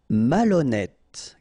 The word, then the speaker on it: malhonnête: Malhonnête. Okay, remember, H doesn't exist, so malhonnête. Don't insist on the final E. Malhonnête. And here you get E accent circumflex, so you pronounce it like E.